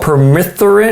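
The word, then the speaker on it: permethrin: And um this stuff called peromeine is how you pronounce it.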